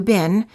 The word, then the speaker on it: been: exceptions in american english the word been as in how have you been is pronounced as i but in british english it sounds like ee the same as the food beans also in the word